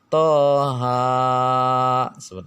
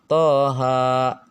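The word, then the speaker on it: Taha: ini banyak kesalahan nih banyak orang membaca tohon itu padahal dibacanya Hanya dua harokat saja Toha gitu ya kemudian acara toshi kim.mi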